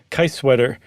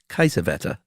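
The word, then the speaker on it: Kiesewetter: taking a lunch break can I correct your pronunciation uh yeah I believe that would be kaisavetta it's much better when I say Kai sweater yeah but that's okay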